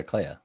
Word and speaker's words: Clea: It is pronounced Clea according to the internet.